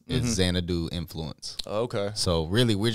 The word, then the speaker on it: Xanadu: How do you pronounce it? Podcast and stuff like that before. Xanadu.